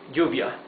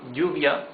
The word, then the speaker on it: lluvia: Double L is pronounced like Y in yo, in I, yes? So, for example, rain, lluvia, would be with double L at the beginning of the word. Lluvia, j, that's double L. In some countries in Latin America, it's pronounced sh. It would be, for example, instead of lluvia, would be lluvia.